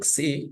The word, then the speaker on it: xi: The xi is pronounced as xi, just like in the word axiom.